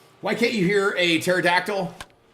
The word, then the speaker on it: pterodactyl: can't you hear a pterodactyl uh P the p is silent that's great what's going